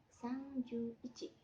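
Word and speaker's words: 三十一: itu yaitu angka 1 jadi 30 + 1 30 bahasa Jepangnya sangju dan ditambah angka satu Bahasa Jepangnya i jadi 31 dibacanya sangju I kayak gitu teman-teman kemudian kita lanjut ke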